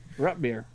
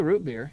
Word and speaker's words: root beer: Yeah, you're saying Rutbeer through a lot of it, like Rutbeer. But that's not even how they say it here. I mean, we say root beer, you know.